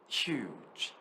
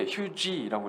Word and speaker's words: huge: 그럼 이게 앞에는 휴 이렇게 읽고 뒤에는 G 이게 아니라 G. huge. 이해하셨죠? huge. 절대 huge라고 읽으시면 안 돼요.